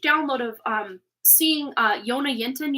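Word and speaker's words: Jonna Jinton: of um seeing uh Yona yenton you know who she is she's here on YouTube I almost said Facebook for some weird reason maybe she's on there too um it's spelled j o n n a j i n t o n Yona yenton um she's in Sweden um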